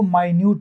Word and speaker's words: minute: जैसे एक शब्द है MINUTE, इसको मिनट भी कहते हैं और इसको माइन्यूट भी कहते हैं।